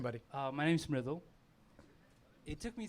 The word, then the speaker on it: Mridul: It's Mridul. M-R-I-D-U-L. That's fantastic, Madul.